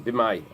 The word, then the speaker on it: b'may: The word "my" means what? It rhymes with "y," but it doesn't translate as "y." It translates as what? B'may means what? That's it. It's like b'ma, right?